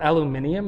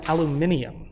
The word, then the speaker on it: aluminium: the British call it aluminium and we call it aluminum way they call it what uh the British call aluminum aluminium they have a whole extra syllable in there and like they spell